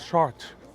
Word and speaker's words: Chartres: name cynthia says i think the pronunciation is sharp yeah soft r yeah it's a bit